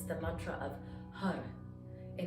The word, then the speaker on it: Har: it's the mantra of har and it's spelled h-a-r but it's pronounced with that sort of spanish sounding r so it's circular it's round it rolls in the mouth okay and you're using